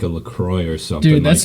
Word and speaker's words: LaCroix: It's actually pronounced LaCroix, by the way. It's French. LaCroix. No, it's LaCroix, and you don't pronounce the at the end.